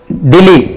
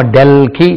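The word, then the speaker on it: Delhi: இருக்கிறார்களாஹவதே கம்ரம் Arabia அவர்கள் டெல்லி டெல்லி இதுக்கு உச்சரி பாருங்க டி எல்ஹஐ டெல்லி டெல்லி டெல்லி டெல்லி இங்கிலீஷ்ல நம்ம டெல்கி சொல்லக்கூடாது நியூ டெல்லி இங்கிலீஷ் உச்சரிப்பு டெல்லி டெல்லி டெல்லி டெல்லி டெல்லி டெல்லி டெல்லி டெல்லி டெல்ஹி சொல்லக்கூடாது டெல்லி டெல்லி நியூ டெல்லி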